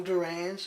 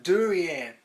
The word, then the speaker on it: durian: the day but whole fresh well frozen whole durands are finally back in red cliff city reckless